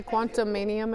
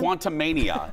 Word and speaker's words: Quantumania: February did you want to try to say quantumanium again quantumania I said it right didn't I know it